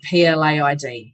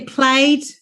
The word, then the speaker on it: plaid: But I cannot stand that word PLAID. So, and also I didn't know how to pronounce it. I thought it'd be played. Yeah. Plaid.